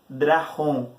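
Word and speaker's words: drakon: Então, a respeito da serpente, o termo dragão é drahon. Se escreve dracon, mas se lê drahon.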